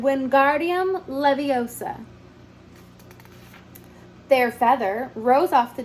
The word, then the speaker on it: Leviosa: more luck when guardium Leviosa he shouted waving his long arm like a windmill you're saying it wrong Harry heard her miny snap it's guardium Leviosa not Leviosa make the gar nice and long you do it then